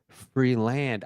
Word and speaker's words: Freeland: It's spelled Freelance. No, land. Freelance? Land. Freeland. I thought it was freelance.